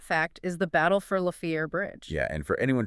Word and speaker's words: La Fière: And that fact is the battle for La Fière Bridge. Yeah, and for anyone trying to look it up on a map later, that's spelled L-A space F-I-E-R-E, but it's pronounced La Fière.